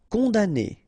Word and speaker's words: condamné: Condamné, okay, so it's really strange because this M here, well, technically it's not pronounced.